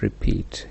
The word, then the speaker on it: repeat: Illustrated in the word repeat re is unstressed Pete is Trust so one unstressed and one stressed syllabus an apostic pattern has